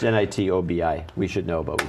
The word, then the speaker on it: Nitobi: was behind phone Gap is it n or night to be I have no idea how to pronounce it it's nit Obi we should know but